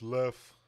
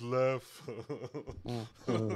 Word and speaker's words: Lef: You're saying it wrong. It's Lef. His name is Lef.